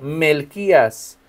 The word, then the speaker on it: Melquías: De momento podemos este confundir el acento Melquías, acento en la i.